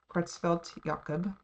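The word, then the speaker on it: Creutzfeldt-Jakob: is crossfell yakum disease celt yakob is how it's pronounced and in all of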